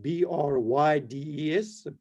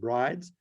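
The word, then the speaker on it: Bryde's: It's spelled B-R-Y-D-E-S. Some people call it brides, but it's after a Norwegian character. So it's Brydes.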